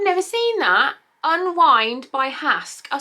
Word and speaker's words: Hask: seen that unwind by hask oh so it's hask like it has hair mask i love that that's